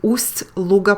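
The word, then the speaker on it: Ust-Luga: very quietly again the ust luger port is pronounced um a while in english there is no such soft sign as we have in russian that indicates the softness of the consonant we spell it as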